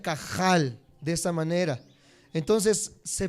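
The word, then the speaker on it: קהל: h se pronuncia como como si estuvieras haciendo gárgaras se pronuncia cajal de esta manera entonces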